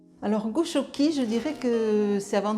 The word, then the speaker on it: Goxoki: Alors Goshoki, alors qui s'écrit G-O-X-O-K-I, ça signifie, en fait c'est un terme basque qui signifie être bien, être chez soi, être au chaud, être dans un nid douillet.